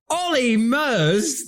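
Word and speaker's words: Olly Murs: Ollie Mers, the man whose name rhymes with polymers.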